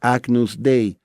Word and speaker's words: Agnus Dei: el pecado del mundo la expresión latina la pronuncia como se escribe agnus dei a newsday en la